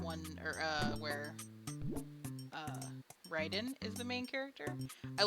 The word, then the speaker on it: Raiden: spelling but different pronunciation I think his is Ryden and then Mortal Kombat is Raiden I think but yes that character